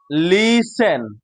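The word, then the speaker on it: listen: announcement announcement A please লিসেন please লিসেন please লিসেন টিটা উচ্চারণ হবে না এখানে টিটা উচ্চারণ লিখতে হবে কিন্তু উচ্চারণ হবে না লিন টিটা হবে না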